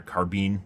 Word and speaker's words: carbine: Otherwise, this would be a carbine, or carbine, depending on how you want to pronounce it.